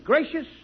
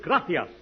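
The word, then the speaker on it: gracias: it please okay muchas gracious Amigo no no no not gracious that word is graas you see in Spanish the C is pronounced th look graas you see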